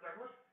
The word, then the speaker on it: Douglass: We only got half of the second S, but that's okay because either way it's pronounced Douglas.